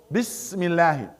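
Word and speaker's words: بسم الله: This is hamis. What's hamis? جريان النفس عند النطق بالحرف. So you have to let the air go. Do not hold it. Bismillah.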